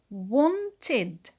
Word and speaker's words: wanted: In the past, it becomes wanted, wanted. W, O, N, T, I, D.